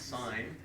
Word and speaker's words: sin: letter sign is s i n which is pronounced sign okay if you're in a Catholic School it's